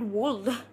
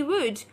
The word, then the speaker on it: would: L hey hey hey why would you call it wolf it has to be would or should or could